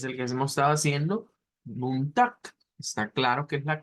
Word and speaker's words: Montag: Montag, Montag, Bueno, los dos acá son con la K. Montag, Montag, Ok, estamos ahí claros que en ambos casos tenemos la K. Sin embargo, nos dice aquí abajo que una pronunciación alterna es usando este sonido que ya hemos dicho que no es una X, o sea, no es como decir tax, no es la X, sino que de